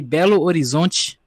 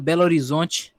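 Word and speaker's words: Belo Horizonte: they because like uh actually if you were gonna say it right like the the actual words it would be Bellow Horizonte but since it's a city they change it to belarizons so that's why you say like that but it's a half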